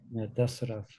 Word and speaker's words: Dasarath: That's really a heart-wrenching episode where Dasarath, Dasarath, did I pronounce that right? Dasarath. Yeah, Dasarath, when he has to inform Ram.